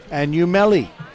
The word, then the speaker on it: Anumeli: But I had Shunteria right next to me, and I said, how do you say your name? And she said, Anumeli.